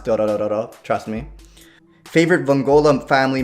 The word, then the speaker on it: Dororo: And that's the proper way to pronounce Dorororo, trust me.